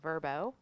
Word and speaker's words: Vrbo: a rebranding launch last week oh you know pronounce it verbo which we found out through so I know